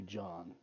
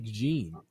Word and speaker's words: Jean: going to call you john it's not good that's good no for the pronunciation it's more like gene uh germany your hometown